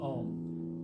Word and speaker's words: Om: We Om'd in the beginning. Om is actually spelled A-U-M with a silent syllable at the end. Om, A-U-M. So the first letter A is an ah sound, not ah, but ah.